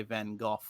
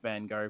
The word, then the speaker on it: Van Gogh: the germanic roots um in the united states it usually rhymes with snow and in new england